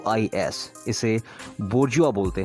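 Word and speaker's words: bourgeois: यू आर जी ई ओ आई एस इसे बजुआ बोलते हैं हमेशा ध्यान रखिएगा नेक्स्ट वन वन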